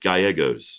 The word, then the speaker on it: Gallegos: That's Gallegos. There you go. And it's pronounced Gallegos. That's it.